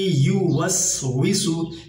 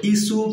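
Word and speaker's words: يُوَسْوِسُ: টানে পড়তে হবে আল্লা ইউসু এখানে ইউস কেউ কেউ বলে ইসু কেউ কেউ বলে ভিসু এটা আমরা খেয়াল রাখব ওটা উচ্চারণ করতে হবে ঠোট গোল করে ও সেই হিসেবে আমরা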